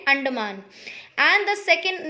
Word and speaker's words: Andaman: of first island is andaman a-n-d-a-m-a-n andaman okay again listen to the pronunciation first island name is under man okay a n d a m a n anderman and the second name